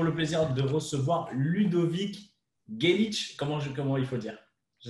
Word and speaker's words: Geilich: plaisir de recevoir Ludovic Gelic. Comment il faut dire? Je ne sais pas comment il faut le prononcer. Gelic. Bonjour. Hey. How do you say your last name? Gaelic is fine.